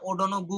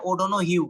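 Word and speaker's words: O'Donoghue: অনেক সময় স্যাররা ধরে যে unhappy tired of ওডন ইউ উচ্চারণ করতে পারে না ওডন গু বলে তো স্যাররা যখন ওডনু বলে স্যার এটা ওডন গুই অবশ্যই এটা কিন্তু এটার উচ্চারণ হচ্ছে ওডন হিউ এটা আয়ারল্যান্ডের একটা শহরের নাম একটা সিটির নাম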